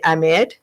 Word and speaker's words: Ahmed: You You gotta say do- H has to be it's not silence. And Americans say Ahmed, which is H is silence. Ahmed. It's Ahmed. Heck.